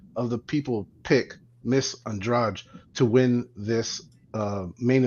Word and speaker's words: Andrade: for saying Andrade because where I'm from that last name's Andrade uh Pro us boxer is Andre and then she's ondrage same spelling same last name but different ways of pronouncing it names are hard but